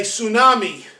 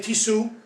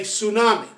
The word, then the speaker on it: tsunami: do in spanish or when you say tsunami as in japanese it starts with ts we don't say t su we just say tsunami so any word that's